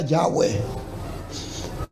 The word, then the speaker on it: Yahweh: Sí, porque la forma de mencionar, de pronunciar el nombre de Dios, posiblemente original, era Yahweh.